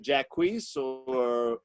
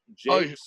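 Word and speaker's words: Jaques: It's yes, in As You Like It, and it's Jacques or Jakes or Jacques. however you want to say his name.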